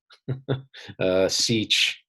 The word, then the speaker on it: sech: So if your trigonometry is sharp, you're kind of looking at these things going, okay, yeah, it's sort of funny to pronounce them. Cosech, sech, cotanch, just the analogs of the trig functions.